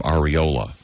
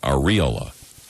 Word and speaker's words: areola: one is about uh the pronunciation of the term areola yes is that incorrect uh apparently it's supposed to be areola what with the accent on the on the re i thought it was